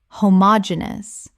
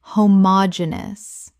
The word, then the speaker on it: homogeneous: prerogative Word 291, homogeneous. Common mispronunciation homogeneous Correct pronunciation homogeneous Five syllables with the stress on the third, meaning of the same kind.